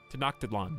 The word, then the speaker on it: Tenochtitlan: Tenochtitlan is what I like to say, but that's just phonetic pronunciation.